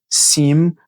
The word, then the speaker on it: seem: Sin e essa palavra aqui que a gente tá vendo que é o sim, sim, você fecha a boca no final da palavra.